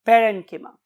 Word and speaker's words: parenchyma: बहुत से और प्रोनाउंसिएशंस भी अवेलेबल है, खासतौर पे हमारे इस कॉन्टिनेंट के पार्ट में, तो बहुत से लोग इसे कोलेनकाइमा भी बोलते हैं, बट the true pronunciation is कोलेनकिमा एंड पेरेनकिमा।